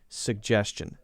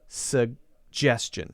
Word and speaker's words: suggestion: to pronounce the word suggestion suggestion so the first one is a hard G good good good good second one is like a J sound juju juju it's called